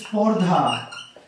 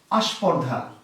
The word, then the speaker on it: স্পর্ধা: একটি শব্দ হচ্ছে স্পর্ধা। এই স্পর্ধাকে তারা বলছে আস্পর্ধা। শব্দটি স্পর্ধা, কিন্তু উচ্চারণ করতে গিয়ে তারা বলছে কি আস্পর্ধা।